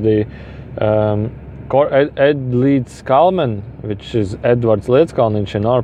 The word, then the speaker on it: Edvards Leedskalniņš: Earth also, because the Ed Leedskalnin, which is Edvards Leedskalniņš in our pronunciation, which was a Latvian, he went to